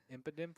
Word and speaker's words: Impidimp: Impidimp.